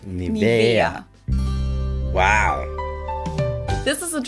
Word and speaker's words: Nivea: English native speakers usually say Nivea. Yep. Nivea. In German we Nivea. say Nivea. Nivea. So the emphasis is on the E. Nivea.